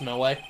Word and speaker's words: Mo: It's pronounced Moe. Moe.